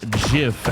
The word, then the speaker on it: GIF: the people at home GIF is pronounced Jif as of 1987.